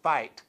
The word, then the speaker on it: FITE: screen smart TV live remember when you go to download fight from Google Play or iTunes it's spelled fi t